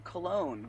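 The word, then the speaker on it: Colón: One minor correction. Colon, like the fragrance. There's an accent on the second O that makes it smell better. Cologne. Cologne. Oh, jeez.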